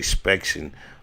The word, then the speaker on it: Spectian: And when I say Spection on IG, his name is spelled SPECTIAN ARTS, Spection Arts.